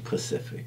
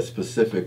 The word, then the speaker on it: specific: I was gonna say specific, but I'd be saying it wrong. I'd be saying Pacific. Yeah, me too. Let me ask, a specific question.